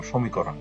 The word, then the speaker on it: সমীকরণ: একইভাবে সমীকরণ স এর সাথে একটি ও আছে। ও এর পরে দীর্ঘ ইকার আছে। এই দীর্ঘ ইকারটির প্রভাবে এই অটা ও এর মত উচ্চারণ হবে। সমীকরণ।